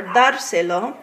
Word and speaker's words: dárselo: the A of dárselo, because that's a palabra esdrújula, and anytime you have the golpe de voz on the first syllable of a three-syllable word, you're going to need a written accent.